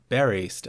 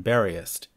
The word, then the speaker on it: buriest: I choose to pronounce the word buriest as two syllables rather than buriest to fit the meter, and in future episodes